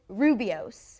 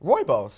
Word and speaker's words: rooibos: I thought you said this Rubios. Rooibos. But you guys told me it's Rooibos.